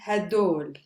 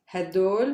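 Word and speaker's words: هدول: students the demonstrative i would use would be hadol sometimes pronounced as heidor or even as whole choose one for yourself hadoul maybe is the most common one whole is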